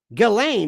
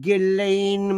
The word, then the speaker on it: Ghislaine: Ghislaine, remember that one.